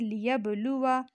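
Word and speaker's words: ليبلوا: फिर है लियबलुवा, अलिफ है लेकिन जब हम पढ़ेंगे असल में पढ़ेंगे लियबलुवा, वाव को लंबा नहीं करेंगे।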